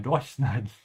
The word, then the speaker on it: durchschneiden: And because it's separable, we have to emphasize the prefix. When we say it's a Luftschneiden. Ich meine Durchschneiden.